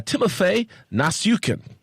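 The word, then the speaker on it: Timofey Nastyukhin: Eddie Alvarez was defeated by knockout in the first round by Timofey Nasukin. Very good. Very good on that pronunciation, sir.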